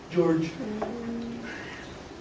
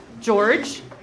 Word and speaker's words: Georg: George. George, or Georg. That's how you pronounce the name when it's spelled that way.